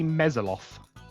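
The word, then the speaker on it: mezzoloth: it is a mesoloth.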